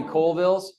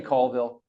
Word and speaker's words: Colville: Did I hear any Coalvilles? Raise your hands if you raise your hands in shame if you said Coalville. Okay, it's actually Colville. It's a French name, and the anchors in